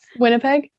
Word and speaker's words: Winnipeg: There was well there was Winnipeg. Is that no? How do you say it? Winnipeg.